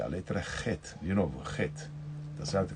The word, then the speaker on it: Het: que é a letra Het, de novo, Het, tá certo? Que a gente escreve CH nos nossos livros, mas na hora a fonética é Het, Het, como se fosse dois R's, Het.